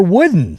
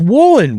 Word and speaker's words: Woolen: Is it Woolen or Wooden? They're saying it's Woolen.